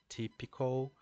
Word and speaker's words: typical: the the word pronunciation, the changing of the vowel type to tip, typical, and also the change of um, on the spellings. So we change the type, the final E to letter I, and we pronounce typical. Okay, with the same stress pattern as in hospital.